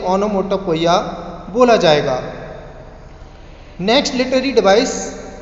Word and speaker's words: onomatopoeia: And students, next इसमें देखते हैं, ये होता है ओनोमाटोपोइया, कुछ लोग इसको ओनोमाटोपोइया भी बोलते हैं।